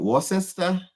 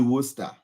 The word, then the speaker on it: Worcester: would probably read that is it Worcester yeah yeah but it's actually Worcester we have so many